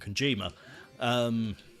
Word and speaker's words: Kojima: Well, I say allegedly, basically confirmed to have ended between them and Kojima. Why can't I pronounce his name? There's no N in there.